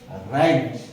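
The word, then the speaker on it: wrench: रँक रँक रँक रँक मग काय silent आहे याच्यामध्ये डब्ल्यू डब्ल्यू हा सुरुवातीचा सायलेंट आहे शांत आहे तो त्याचा उच्चार होत नाही म्हणजे त्याचा शब्दात त्याचा समावेश आहे परंतु उच्चार मात्र त्याचा होत नाही ओके त्यानंतर या ठिकाणी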